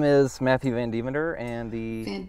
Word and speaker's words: Van Devender: My name is Matthew Van Devender, and the Van name of this Devender. talk. Van Devander. Van Devender. I could say it right. It is more fun to say Van Devander, though.